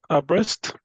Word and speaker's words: Brest: It's Brest.